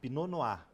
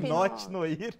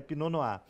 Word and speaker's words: Pinot Noir: aqui algumas uvas né pinoa Escreve Pinot Noir né essa palavra francesa né P É isso aí Pinote noir mas a a pronúncia é pinoa eh esse vinho tem